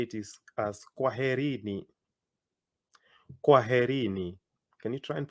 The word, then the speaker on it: kwaherini: If you wanted to say goodbye to many people, you'd say it is as kwaherini. Kwaherini. Can you try and pronounce that?